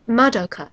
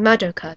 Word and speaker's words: Madoka: I'm saying Madoka because that's the proper pronunciation. In Japanese, you put the stress on the first couple of syllables of a name.